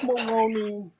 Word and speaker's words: Maloney: his name is Maloney. It rhymes with baloney.